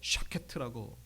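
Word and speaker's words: שקד: 뭐냐 어떤 거 없습니다 살고 나무는 히브리어로 샤케트라고 그렇게 발음합니다 샤케트 그런데 여기 12절에 보시면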